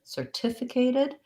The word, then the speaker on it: certificated: We also have an adjective, certificated, in which case certificated still has second syllable stress, but then we change it to the A vowel.